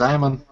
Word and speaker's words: Ammon: Is it Ammon or Amon? It's Ammon.